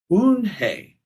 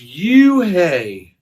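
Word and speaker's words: Unhei: It's pronounced Eun-hye." "Oh, it's you-hye," the boy said.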